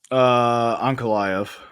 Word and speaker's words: Ankalaev: The last one got, I think it was ruled a no contest because Ankalaev, is that how you pronounce it? Ankalaev? Ankalaev.